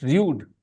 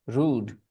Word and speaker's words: rude: Okay, when I was a child, I pronounced it rude, rude. Okay, nobody ever told me it is rude. Rude. Yeah, later, much, much later, I learned the correct pronunciation, rude.